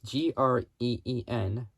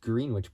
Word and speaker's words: Greenwich: GMT, which is Greenwich Mean Time. It's spelled GREENWICH, which, I mean, it looks like it's spelled Greenwich, but it's pronounced Greenwich.